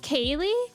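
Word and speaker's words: ceilidh: try to pronounce that how's that pronounce Kaye that's pronounced Kaye is that's gelic right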